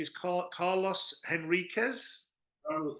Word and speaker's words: Henriquez: Paul Simon, which is, I think it's the pronunciation is Carlos Henriquez. Carlos Enriquez, yes.